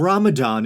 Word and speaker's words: Ramadan: And Ramadan is the correct pronunciation, right? I wanted to make sure I wasn't unconsciously calling it Ramadan or something.